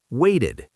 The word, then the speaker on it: waited: We add ed, waited, pronounced like wait-id.